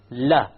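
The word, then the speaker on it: ل: Okay, notice that the entire upper portion, la, not just the tip, it goes and it touches the gum of the mouth behind the canines.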